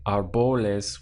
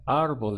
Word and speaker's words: árbol: the word so you wouldn't say our Bowl is where you're stressing this part or a bolus where you're stressing the end but audible is the push comes at the front of the word where the accent is our bolus also it's